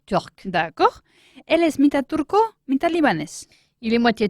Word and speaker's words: turque: Turc. T-U-R-C. Ajá. Pero el femenino, aunque suena igual, turc, se escribe T-U-R-Q-U-E. Ah, o sea que Una cosa cambia es- la forma de escribirlo, pero Voilà. se pronuncia igual.